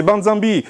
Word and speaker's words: Banzambi: Il faut prononcer mon nom, c'est Banzambi.